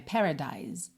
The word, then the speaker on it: paradise: pronunciadas no caso de a gente termina nesse som de s que acaba soando como um z né Paradise Paradise Ok as letrinhas